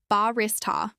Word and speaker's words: barista: This is pronounced with stress on the second syllable. Barrista.